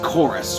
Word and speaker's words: Chorus: game called chorus now it's spelled with a V but it's pronounced chorus with a u i don't know what